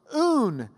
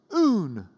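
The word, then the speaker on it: οὖν: That word so, un, it's just three little letters, O, Upsilon, nu, O-U-N, un, means because, therefore, so.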